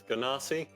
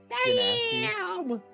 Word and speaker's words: Genasi: For the longest time, I referred to Genasi as Ganassi Genasi.